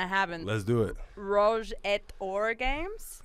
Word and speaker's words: Rouge et Or: Rouge et Or games? It's A. You don't pronounce the T. It's E-T makes A. So A, okay. Rouge et Or.